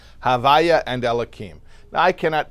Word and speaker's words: Havaye: did not even pronounce the letters consecutively we pronounce it as Hava um that is the four letters y and